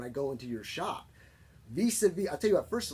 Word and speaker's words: vis-à-vis: And in French, after the last consonant, everything else is dropped. So that's why it says vis-a-vis, and not vis-a-vis.